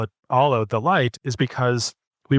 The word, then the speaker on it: Aalo: Is it Aalo or Aalo? I've listened to a few of your interviews and I don't remember, but how'd you go with the name? How do you say it? It's Aalo.